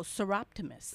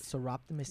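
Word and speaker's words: Soroptimist: Pronounce that word again. Oh, Seroptimus. Seroptimus Yes.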